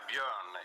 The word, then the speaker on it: Bjorn: Yes, Bjorn. It's hard to pronounce in English. Bjorn. So people say Bjorn, like Bjorn in ABBA, the most, popular Swedish band ever, I think.